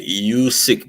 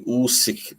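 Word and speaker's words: Usyk: know yeah yeah yeah people say you seek but it's actually usick that's the way you supposed to say it uh remember when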